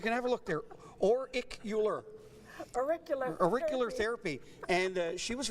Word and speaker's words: auricular: So it's, I got a little note, it says pronounced auriculo. It's auricular therapy.